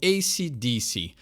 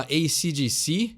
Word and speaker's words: AC/DC: O jeito certo de falar o nome dessa banda é o AC/DC. Muita gente no Brasil fala AC/DC e dá essa esticada no C final.